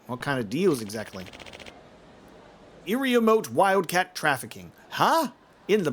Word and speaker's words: Iriomote: It is it's Iriomote. It is mote.